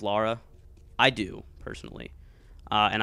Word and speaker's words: Lara: of people do that they say laura instead of lara i do personally uh